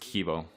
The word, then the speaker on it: Kybo: director of kybo ventures it's pronounced kibo but kaibo sounds uh sounds pretty nice as well so thank